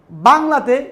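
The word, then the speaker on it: ب: এই বা উচ্চারণ করার সময় আমাদেরকে খুব খেয়াল করতে হবে যে খুব স্বাভাবিকভাবে একেবারেই বলবো আমরা, শুদ্ধ করে এবং খুব সফট বলবো বা।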